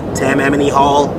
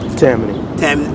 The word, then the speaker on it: Tammany Hall: Well, I mean, not me performing personally, but I'm gonna be at Tammany Hall. That's how you say it, Tammany Hall. Tammany.